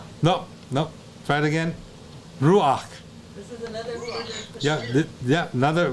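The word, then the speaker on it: רוּחַ: no try it again ruach yeah yeah another rock this is another furtive Patak where the the Pathak beneath the head is pronounced before so it's going to be r-u-a-c-h Rock and you know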